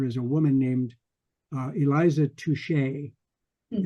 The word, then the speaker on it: Touchet: a woman named Eliza Touchet. Mm. It's Touchet, which I presume is intended to be pronounced in French as touche.